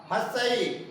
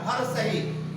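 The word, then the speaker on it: ह्रस्व: हर्षई, हर्षई है ना, बहुत सारे क्या बोलते हैं उच्चारण में, हर सही। ये उच्चारण बिल्कुल गलत है, हर सही नहीं होता है।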